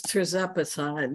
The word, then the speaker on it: tirzepatide: I think it's tirzepatide. Let me see, here it is. T-I-R-Z-E-P-A-T-I-D-E. Tirzepatide. That's what I couldn't pronounce.